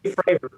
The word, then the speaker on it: Fravor: Favre, the guy that was on CBS 60 Minutes? How do I pronounce his name? Yeah, Dave Fravor.